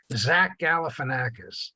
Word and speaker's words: Zach Galifianakis: Zach Galifianakis.